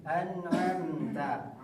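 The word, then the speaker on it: أنعمت: Betul dibaca yang betulnya itu dibaca ain anamta anamta seperti yang tadi kita bacakan di pertama tadi ustaz ya.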